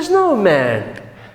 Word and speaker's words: snowman: This is the snowman. The snowman. I'm going to write it here. The snowman. Okay, watch out this pronunciation. You say snowman, snowman, like man.